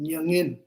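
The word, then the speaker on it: མྱ་ངན: So, Tibetan word for sorrow is called nyangin. Nyangin. So, Western people have problems pronounce this word. You have to say from nasal sound.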